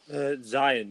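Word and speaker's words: Xi'an: I can't remember, how do you pronounce her name? Is it Zion? Zion, yeah.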